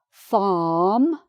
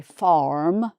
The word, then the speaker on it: farm: The same with this word, farm. So F and then R and then M. No R. So an American might say farm.